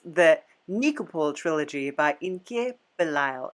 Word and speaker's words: Nikopol: Yeah, Immortals is based off the Nikolai trilogy. And I could be saying it wrong. I did say it wrong. It's the Nikopol trilogy by Inke Belial.